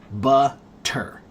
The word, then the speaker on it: butter: If I say the word butter slowly, then it's a hard t butter. T, right? But when you speed that word up, that hard t gets cut in half.